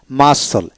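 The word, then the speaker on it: muscle: তারপর scholar scholar কলাস্টিক কলাস্টিক সকনার স্কনার তারপরে মাসল এম ইউ এস সি এ মাসল মা এস এলই মাসল তারপর আসেন এই পাশে আমরা আরো অনেক শব্দ শিখবো।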